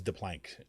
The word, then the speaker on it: DePlank: Okay, it is DePlank. Shireen said. She gave me the pronunciation.